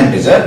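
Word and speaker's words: int: सो I repeat, किसी भी non decimal numeric value को रखने के लिए वी यूज इंट, we pronounce इट एज इंटीजर बट we write इट एज इंट।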